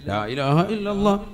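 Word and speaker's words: لا إله إلا الله: അള്ളാഹു അപ്പൊ ഒരെണ്ണം ആയി ലാഇലാഹ ഇല്ലല്ലാഹ് അവസാനം നീട്ടി ഹാന്റെ ഉച്ചാരണം കൊടുത്തു തന്നെ നിർത്തണം ഇതെങ്ങനെയാ ചെല്ലുന്നത് ലാ ഇലാഹ ഇല്ലല്ലാഹ് ലാ ഇലാഹ ഇല്ലല്ലാഹ് ഇന്നാ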